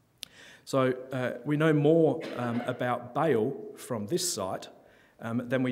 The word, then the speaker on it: Baal: Now Baal, I believe technically should be pronounced Baal, but the god of lightning's not that operational anymore, so we're safe just to say Baal because we all know what that means.